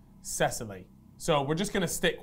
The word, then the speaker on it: Cecily: you pronounce it, because actually in the Netflix documentary, the bloke Simon actually refers to her as Cecilia, but we've gone online, we've typed in pronunciations and different types of pronunciations for this name, and we're pretty confident it should be pronounced Cecily.